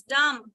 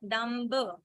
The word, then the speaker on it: dumb: It's dumb and not dumb.